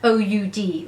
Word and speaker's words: oud: I can't believe I can't pronounce this. It's quite oody, O-U-D, oud, that's what I mean.